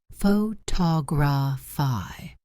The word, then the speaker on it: photography: Photography. Second syllable.